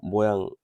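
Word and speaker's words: mho: 이거 옴을 거꾸로 모양이 되고 있죠. 이거는 모라고 읽어요.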